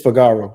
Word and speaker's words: Figaro: That's how we pronounced him. But you said Figaro. You said Figaro. It's Figaro.